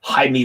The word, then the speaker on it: Jaime: And to my would be Anglican spelling, my Anglican pronunciation, or my English pronunciation, I always think it's James Reyes, right? But it's Jaime, like Jesus.